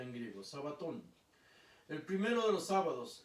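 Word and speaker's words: σαββάτων: Pero qué está escrito en griego sabaton se pronuncia en griego sabaton el primero de los sábados María la Magdalena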